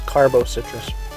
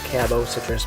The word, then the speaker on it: Cabo Citrus: It's Carbo Citrus. I'll have to try that out. It's actually pretty good. Yeah, I know it's pronounced Cabo Citrus, but, you know, come on. I'm going to Carbo.